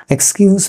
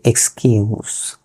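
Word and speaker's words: excuse: এক্সকিউজ মি বলি, আসলে এক্সকিউজ মি এর উচ্চারণটা হচ্ছে এক্সকিউজ।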